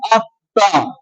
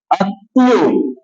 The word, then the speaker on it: আত্মা: আমরা কয়েকটা শব্দ দেখি আত্মা আত্মীয় এখানে দেখো ত এর সাথে এই যে ম যুক্ত হয়েছে ম যুক্ত হওয়ার ফলে ত এর তকে হচ্ছে দীর্ঘ উচ্চারিত হচ্ছে আমরা কিন্তু ম এর উচ্চারণ করছি না তাই না বুঝেছো তাহলে